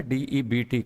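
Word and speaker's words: debt: है यहां ध्यान रखना मैंने एक शब्द लिखा है डेट कर्ज और इसको प्रोनाउंस किया है मैंने डेट अब एक चीज बताऊं मैं आपको की किसी भी शब्द के लास्ट में अगर बेटी होगा तो बी हमेशा वहां पे साइलेंट ही होता है डीबीटी डेट होता है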